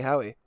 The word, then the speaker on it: Howey: What did you say? You said Howie. Yeah, you got it.